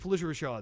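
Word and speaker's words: Phylicia Rashad: Felicia Rashad, that's right.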